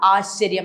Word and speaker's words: ആശ്ചര്യം: ആശ്ചര്യമല്ല, ആശ്ചര്യം. നമ്മുടെ ഉച്ചാരണം ശരിയാക്കുക.